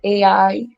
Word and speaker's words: Ai: Slaughter they took over AI however you pronounce that Punch's name a it's spelled a i so it's I some people pronounce it I they took over that